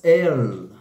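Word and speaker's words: אל: tradição Judaica com o nome de Deus 2.3 el el esse esse o a língua língua palatal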